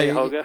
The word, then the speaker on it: Cuyahoga: Yeah, Cuyahoga.